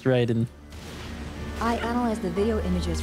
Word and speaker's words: Raiden: been shelved so Priceless it is definitely pronounced Raiden I analyze the video